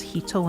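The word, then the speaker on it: 人: two legs that again if that character was on its own it'd be pronounced as hito instead but since it's part of a word the character is added just a singular word itself the uh gin Uh, gung jin. It's pronounced as jin instead.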